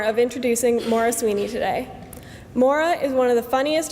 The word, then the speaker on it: Maire: I tli father n many people accidentally mispronounced this as Marie are perhaps other creative variations such as mayor or Mari and once even mark but rarely is the correct pronunciation Maura culturally never guessed on the first try one might ask why